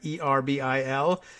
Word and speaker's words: Erbil: in the town of Erbil hoping get that pronunciation at least close to correct er be il Hoffman said the Pentagon is assessing the damage